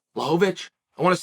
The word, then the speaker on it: Błachowicz: would turn it down blahovitz blahovic I said his name wrong I want to say it right Lovich I want to say